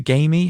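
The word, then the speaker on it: Gaime: the the gamey the game I think it's I I just thought it' be pronounced game it's basically g a i m e I think it might just be game but yeah yeah we'll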